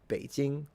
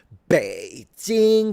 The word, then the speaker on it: Beijing: Beijing, Shanghai, Shanghai, Beijing. Don't say like baiting because it's strange, okay?